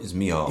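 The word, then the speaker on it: Mícheál: And it's spelled Michael but you don't ever call him Michael. He's from Mihall.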